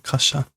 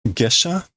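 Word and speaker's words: 下車: Is that kasha? Kasha is, this is just like getting off the train. What, gesha? Maybe? How do you pronounce this? Gesha.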